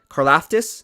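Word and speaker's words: Karlaftis: some work on george carl how do you pronounce his name george carla tiff carlaftis is how you say his name george korlaftis and it's funny i was watching an nfl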